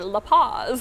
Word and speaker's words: La Paz: So if you want to know how that's spelled, it's P-O-Z. P-O-Z, tongs. Not like P-A-Z. Like Not P-A-Z. My sister's hamster, La Paz.